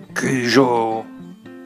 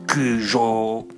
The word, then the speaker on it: Cujo: Cela donne Cujo, que d'autres prononcent Cujo, notamment dans le film, mais je préfère dire Cujo.